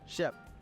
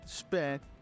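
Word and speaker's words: SHPE: the abbreviation sounds kind of weird but it's pronounced Shep not SP and definitely not the Sheep so what is is shef well Shep is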